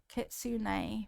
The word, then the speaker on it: Kitsune: Kitsune. Kitsune. See, I was saying it wrong. Kitsune.